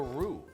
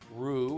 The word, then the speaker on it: roux: the next phase of the sauce making a roux which is butter and flour so let's add the butter and then the flour this is a traditional sauce thickening technique roux it's spelled ro UX it's very French and